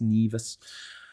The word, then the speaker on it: Nevis: It's spelt Nevis, but it's pronounced Nevis.